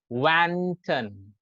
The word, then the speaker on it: wanton: एक बार okay, इसका pronunciation की is wanton, wanton, wanton, WAHN.